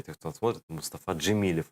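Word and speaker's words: Джемілєв: Никакой не Джемильов через мягкий знак с О.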